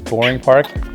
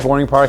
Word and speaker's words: Bowring Park: across from bowering Park also known as boring Park wish my mom always called it boring Park I'm like I don't think you're saying it right but it turns out that is how people in in St John's refer to this very very nice park in the city that we lived across from so yeah